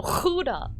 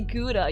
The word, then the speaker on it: Gouda: that doesn't sound right that is how they say it though huda so every time you try to say gouda you you just hear like the dutch people twitching in the background trying to correct you okay so our colonists